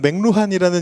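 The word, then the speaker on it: McLuhan: 우리나라에는 맥루한이라는 이름으로 번역돼서 들어갔고요. 어 실제 발음은 맥클루언에 가까운 거 같아요. 영어권에서는 맥클원이라고 부르는 거 같은데이 사람이 어 1900 뭐 50년대, 60년대 70년대 이때 학자입니다.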